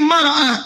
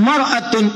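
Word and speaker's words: مرأة: Cuma bacanya yang ini pakai fathah, ini kasrah. Ini mar'ah, ini miraah. Maknanya bisa beda. Silakan lihat. Ini maratun, ini mir'atun.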